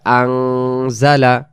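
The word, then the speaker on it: أَنزَلَ: টেনে পড়া লাগতেছে আলহামদুলিল্লাহিল্লাজি আজালা আন হবে না উচ্চারণ হবে আজালা আজালা নুন সাকিনের বাম পাশে এখানে জা অক্ষর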